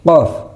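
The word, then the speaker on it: قاف: Gin jadi qof. Qof agak ditekan. Hampir mirip dengan tho. Tho agak ditekan suaranya.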